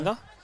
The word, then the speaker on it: Noarlunga: Am I going right with the pronunciation? Port Noarlunga.